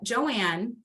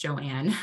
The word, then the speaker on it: Joan: um and so um Joanne I know it looks like it's Joan but her name is pronounced Joanne um she is a